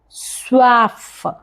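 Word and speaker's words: soif: We will say ये स्वाफ ये स्वाफ व actually O एंड I together gives the sound वा सो इट्स ये स्वफ मींस आई एम थस्टी प्यास लगी है।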